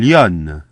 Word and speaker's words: lionne: So what's typical here is that the N of lion is doubled in the feminine. Un lion, une lionne. Takes two N's in the feminine, and then the letter E at the end, the sound E, which is typical of the feminine in French.